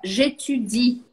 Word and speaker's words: j'étudie: Em francês também tem esse I. Então, eu preciso pronunciá-lo. Fica j'étudie.